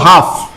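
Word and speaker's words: half: কিন্তু আমরা বলবো হাফ। কি বলবো? হাফ। কি বলবো? ল ছাড়ে দেবো, হাফ। হাফ, এটার উচ্চারণ এল ছাড়ে দাও তাহলে হবে কাম।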